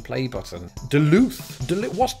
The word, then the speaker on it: Duluth: I went to Wikipedia and I clicked the pronunciation play button Duluth delete what Duluth well again it turns out it's actually a